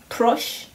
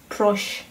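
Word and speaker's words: proszę: then how do you say please please is crush crush crush I have had this also a cup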